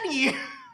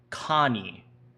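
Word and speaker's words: Kanny: And all of a sudden, oh no, Canny! Junpei cried her name as she ran. Like lightning, he ran across the room toward her. It's pronounced Connie, like the ah in Amish, Connie.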